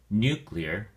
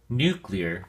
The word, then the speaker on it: nuclear: Nuclear has two syllables and the emphasis or stress is on the first syllable, new. So, we say nuclear.